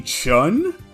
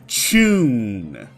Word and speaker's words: Chun: Was it Jackie Chun? No, it wasn't. It's Jackie Chun. The katakana used for his last name are Chu-in. The Chu in Chun is the same one as Pikachu.